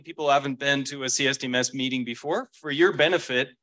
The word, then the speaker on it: CSDMS: D kind of hard it sounds like symptoms or systems so you'll hear people